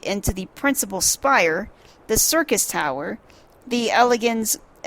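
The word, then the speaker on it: Syrcus: Circus Tower. And it's spelled S-Y-R-C-U-S. Circus. That's what I'm calling it.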